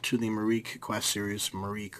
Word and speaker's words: Myreque: the mar Quest series Marik or Marik seems to be the the most common way to pronounce it from every video I've